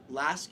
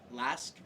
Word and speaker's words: LASK: like it's an AC the name is an acronym. So like do you just pronounce it Lask? Like is that correct?